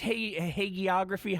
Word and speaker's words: hagiography: The it's hagiography. How do you pronounce that? Hagiography.